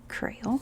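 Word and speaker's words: Kreyòl: haiti so in haiti they refer to their language as crayol but it spelled like this crayol crayol one of the things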